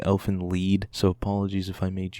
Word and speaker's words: Elfen Lied: scene here I know I might be mispronouncing the title Elfin lined because I've been told before it's actually elf in lead so apologies if I